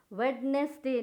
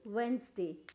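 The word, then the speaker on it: Wednesday: प्रणाम सेशन क्या होगा वंस ए वेडनेसडे नहीं वेनसडे व्यवस्थित यहां पर हम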